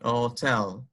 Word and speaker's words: hotel: two Edward hotel hotel the H is pronounced so it's going to be hotel but you want to